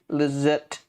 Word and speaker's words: Lizotte: Lizotte.